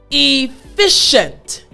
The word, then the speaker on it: efficient: sh sound right well the c-i-e-n-t the c-i-e has the shi sound so you hear it coming out shu now again that's like telling someone to be quiet right shh so i want you to think about a mom or an auntie telling a child to be quiet when they're in a public place shh don't talk don't say anything so it's shunt shunt so add the sh in front of the end so again shunt excellent